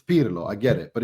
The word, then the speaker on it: Pirlo: Pirlo being called Perlo was another one. Perlo. But I mean I can't. I get that because that's just English, isn't it? How you pronounce like certain things are difficult because of the way that you. But it's not wrong. It's just it sounds. It's it's Pirlo.